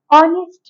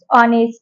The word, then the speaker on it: honest: orange an umbrella an honest man an air here since the letter H the pronunciation of the letter H is silent in these two words honest and air so this